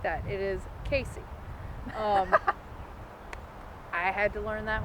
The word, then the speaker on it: Cayce: You have Casey, which it is spelled unlike the way it is pronounced. It's Cayce. It's not Casey. It's not Sacy, anything like that. It is Casey.